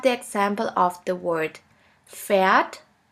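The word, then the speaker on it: Pferd: letter combination PAF PAF which sounds like a puff sound here we have the example of the word phat phat which means horse the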